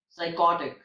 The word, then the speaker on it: psychotic: In English, all the words that starts with PS have a silent P, like psalm, psalter, psychology, psychic, psychotic, and pseudo.